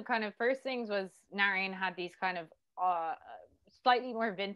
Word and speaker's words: Narayan: Talk about working with your DP, the name Narayan Van Mail, correct? Narayan is how it's pronounced.